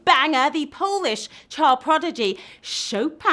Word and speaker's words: Chopin: the polish child prodigy Chopin I know you don't pronounce it choppin be chopped up one